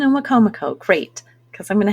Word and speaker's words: Wicomico: Okay, how to pronounce it is Minokan and Wicomico. Oh, good. Minokan and Wicomico.